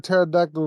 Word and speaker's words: pterodactyl: why can't you hear a pterodactyl relieve itself I know the answer but why can't you hear because it's p is silent and um and I